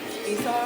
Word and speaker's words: Esau: Esau is how that name is pronounced.